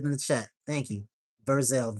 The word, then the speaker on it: Verzell: I'm going to I'm going to spell it phonetically for you. My name is Verzel. And you want to follow me on anything, it's just Verzel and that's V as in Victor, E R, Z like zebra, E L L.